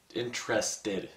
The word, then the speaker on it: interested: First of all, as somebody who's actually very interested in history, interested has three syllables.